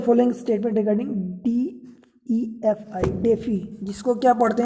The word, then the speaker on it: DeFi: देखिए ये जो इसमें डिसेंट्रलाइज्ड फाइनेंस है, मतलब डेफी है, शार्ट में इसको प्रोनाउंस करते हैं, ठीक है।